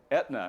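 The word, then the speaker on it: Aetna: right a few more what company's name starts with a silent a fortune 200 company whose name starts with a silent a all right we're going here Etna right your name and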